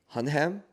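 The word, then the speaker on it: Hunnam: Charlie Hunham.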